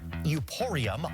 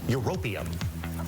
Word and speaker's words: Europium: It's used in smoke detectors and was given its continental name as it is under Euporium on the periodic table. Europium. Say it right, host guy.